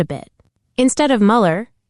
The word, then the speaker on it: Mueller: Mueller. You nailed it. That's how you pronounce Mueller with the umlout.